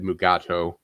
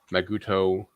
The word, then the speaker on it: Mugato: private world war even though the script said mugato um the first actors kept yeah different actors kept us pronouncing it uh i know d keller kept saying maguto and somebody kept saying gamato so that's where the um uh title came